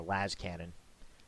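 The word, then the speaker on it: lascannon: That's actually more than I thought with the laser cannon. Or las cannon. Not really sure. For me, it's laser cannon, truncated to laser cannon. But I hear a lot of people pronounce it las cannon.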